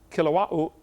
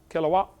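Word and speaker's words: Kilauea: Basalt from Mount Kilawa. Kilawa, how you say it? They pronounce every vowel over there in Hawaii. Kaouya.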